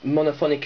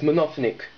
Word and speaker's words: monophonic: know that previous videos i pronounced monophonic as monothenic i honestly didn't know how it was pronounced so i apologize on